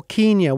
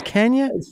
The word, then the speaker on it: Kenya: Now that is Kenya or Kenya. What's the pronunciation? What's the correct pronunciation there? It's Kenya?